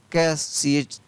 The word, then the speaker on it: catch: कैश, CATCH कैश। तो इस तरीके से आपको स्पेलिंग है वो आसानी से याद हो जाएगी।